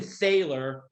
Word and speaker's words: Thaler: Stephen Thaler if we're saying it wrong. And by the way, we might even be saying Thaler's name wrong. It's T-H-A-L-E-R, but we're going to call him Thaler, okay?